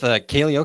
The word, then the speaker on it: Kaleo: So Dan is with Kaleo Coaching. Am I pronouncing that correctly?